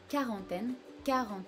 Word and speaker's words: quarantaine: the same word, la quarantaine, so you hear that we do not hear the U part of this word, we only say quarantaine, like a K or just a regular K sound.